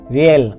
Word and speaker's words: realm: সন্দেহ বা বিবেকের দংশন এখানে এল এর উচ্চারণ হবে না, RAFT রাফট অর্থ নৌকা